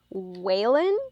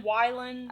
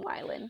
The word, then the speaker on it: Wylan: Okay, and then this last guy is Waylon Van Eck?